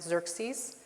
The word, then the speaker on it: Xerxes: By the way, I just want to point out Xerxes his name X C R X E S is pronounced Xerxes.